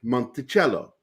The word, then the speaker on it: Monticello: And how do you say the musical instrument that you hold upright with the bow? What's that called? It's a cello. And what it means is mountain of music, Monticello.